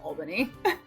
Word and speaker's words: Albany: join you um I will say it is pronounced Albany Albany okay yeah I I'm I've been in